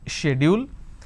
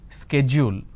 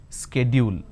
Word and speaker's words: schedule: people don't understand so the British pronunciation is schedule the American pronunciation is schedule now in India what we are doing is we are taking half of American pronunciation and we are taking half of British pronunciation and we end up pronouncing this as schedule this is where we go wrong because of the